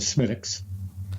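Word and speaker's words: Smithwick's: At the local pub, I enter and order my bottle of Smittix, and they tell me, well... I'd like a Smittix, please. It's spelled Smithwicks, but they don't pronounce it that way.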